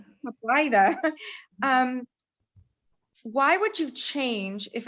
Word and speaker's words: Caplyta: How do you pronounce it? Calypta? Caplyta.